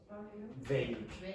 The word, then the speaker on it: vague: The pronunciation is vague. Say again. Vague. Vague. Vague. If you're a Spanish speaker, I want to see blood coming from your lips.